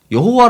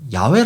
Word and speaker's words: 야훼: 넘는 그리스어 사본 들에서 여호와 라는 단어가 쓰인 적이 없습니다 그래서 저는 이 힙을 언어학자들이 줄기차게 더 올바른 발음이 라고 주장하는 야외 라는 표현을 쓰는 것입니다 저도 솔직히 이